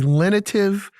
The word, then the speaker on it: lenitive: I'm going to try to be a lenitive individual for you today, Justin, because I know this is a topic that causes you much consternation. But the word is lenitive, Lenitive, 3 syllables.